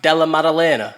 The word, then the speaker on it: Della Maddalena: Yeah, Jack Della how do you pronounce it? Jack Della Maddalena.